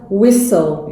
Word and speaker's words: whistle: word as well because you can't pronounce the T here right usually persons detained